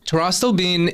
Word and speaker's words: pterostilbene: Pterostilbene is spelled with a P, like pterodactyl.